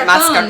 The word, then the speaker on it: mascarpone: some lactase enzyme that I've added to our mascarpone, if that's how you pronounce it, mascarpone, yes, to make it lactose-free.